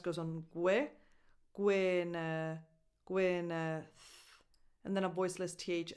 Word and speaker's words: Gwyneth: Gwyneth Paltrow. Gwe, that Y has a lax E sound. Gwe, not gui. Gwe, neth. So that E is just a schwa because the stress goes on gwe, gwyn, gwyneth, and then a voiceless